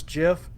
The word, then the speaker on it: GIF: And I want to figure out how to crop this GIF so that it doesn't have the caption that's on it.